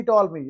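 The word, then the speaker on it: Ptolemy: The Greek mathematician टॉलमी, यहां लिखा है पी टॉलमी या पी, तो पी आप साइलेंट करेंगे, टॉलमी पढ़ेंगे आप।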